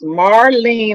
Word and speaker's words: Marlean: And if they want to just, Marlean is not spelled like normal people, because my mother was a phonetic speller. So it's Marlean, like lean on me.